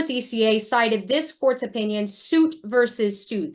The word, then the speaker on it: Suit: The court before DCA cited this court's opinion, suit versus suit. That is spelled exactly how it sounds, SUIT versus suit.